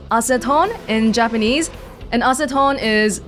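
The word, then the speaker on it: アセトン: Acetone is pronounced acetone in Japanese, and acetone is Iris's nickname.They translated it to Tessa.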